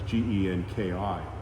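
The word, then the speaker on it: 元気: Like the word genki is health, and that's Genki. It's two Japanese characters, ki and That was pronounced Genki. Okay, Genki, yeah.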